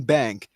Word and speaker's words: Banque: It's just It's just bank. Like you don't pronounce like the QUE. The French don't pronounce the QUE.